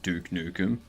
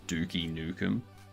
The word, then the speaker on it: Duke Nukem: Now I'm pretty sure before I knew English, I used to pronounce the game Duke Nukem as Dookie Nukem.